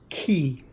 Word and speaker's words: Qi: the key charger and it's spelled Qi but it's pronounced key or Qi you'll see